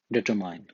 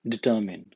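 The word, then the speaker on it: determine: For example कि एक word है, इसमें बहुत ज़्यादा लोग पढ़ते हैं डिटरमाइन। नो, इट्स डिटरमिन।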